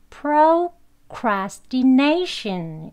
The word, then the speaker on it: procrastination: 표시는 요 두 번째 강세 위치입니다 그래서 여기엔 외 2인이 앞에 표시되어 있죠 그러면 네 2가 가장 강하게 그리고 여기 브라스 프라스 다 두번째 에 강세가 있어야 하는 거예요 가장 나게 두번째 강하게 그래서 발음을 죽지 연결하셔서 하면 되겠습니다 그렇게 발음 하게 되면요 프라 쿨라 스팀 내쉰 이렇게 발음을 하시는 거에요 천천히 한번 해볼게요 플로